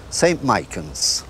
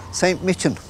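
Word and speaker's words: St. Michan's: and the Henry Jackson's there's three pronunciations of the name the people in Rikers say st. Michael's which is probably correct anyway the people in County Dublin say st. Mitchum and the people in the higher to Dublin say st.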